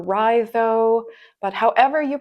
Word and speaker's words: Raidho: Some people pronounce it more phonetically, which would be Raidho, I guess, if you were saying the letters. I prefer Raidho, but however you pronounce